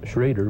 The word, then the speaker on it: Schroeder: Actually I suppose he is his name is pronounced Schrader but I always call it Schroeder he was named after a friend that I used to caddy with back in st.